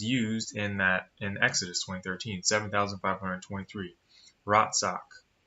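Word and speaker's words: רצח: Ratsak is how you pronounce it.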